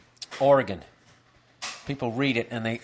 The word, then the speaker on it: Oregon: in the state of Oregon just walking out there like it's not Oregon it's Oregon really then why don't you spell it GI n wow I'm actually